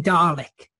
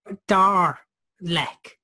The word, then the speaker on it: Dalek: that's a reference to people put in an R in Dalek because people dar lek don't they so you know and